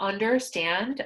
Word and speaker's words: understand: So for understand, under is the first word, stand is the second one, so we stress stand.